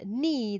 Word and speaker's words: knee: And then knee, the K in front of the word knee isn't pronounced, so it's a silent K.